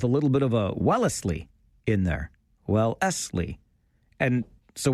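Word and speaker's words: Wellesley: Wellsly. But for the locals, it might actually be three syllables with a little bit of a Wellsley in there.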